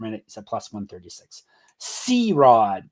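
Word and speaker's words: CeeRod: C-Rod, but it's spelled out, so a bit better. C-E-E-R-O-D, all one word.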